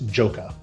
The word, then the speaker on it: joka: to look up a pronunciation guide which it is joka perfect thank you so